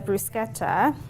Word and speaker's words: bruschetta: we'll go with the brusketa um I like to say it like that cuz it's Italian so